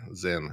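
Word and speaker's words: Sinn: S I N Zen actually is how that's pronounced.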